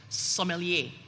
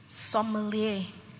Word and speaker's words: sommelier: Sommelier. Sommelier. Sommelier. Sommelier. Sommelier. Sommelier. Are there any alternative pronunciations for sommelier?